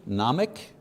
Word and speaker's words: gnomic: Number one, gnomic, don't pronounce the G, gnomic, meaning knowledge.